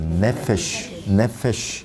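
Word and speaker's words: נפש: 네페시. 끝에 나오는 것은 늘 뭐 쉬 해버리면 이제 그 네페시 그러면은 발음이 조금 원만한 발음 아니에요.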